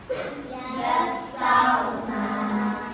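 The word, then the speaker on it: يسّرنا: Nah, jadi ketika membaca lafaz yasarna rnya ini boleh enggak dibaca gini? Yasarnaak boleh. Yang benar gimana? Yassarna.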